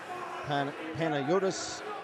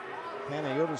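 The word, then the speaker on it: Panagiotis: Chopping the puck up over the glass is Panayotis Kanelos. Panayotis spelled P-A-N-A-G-I-O-T-I-S.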